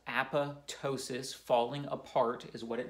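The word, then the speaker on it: apoptosis: cell death called Apatow sious is greek it's pronounced app' ptosis falling apart is what it means results in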